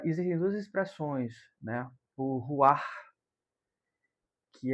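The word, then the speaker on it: רוח: Aqui em São Luís tem essa, uma livraria chamada Ruash e a gente fala Ruash, mas a palavra mais pronúncia mais próxima seria ruar, esse ar aspirado, né?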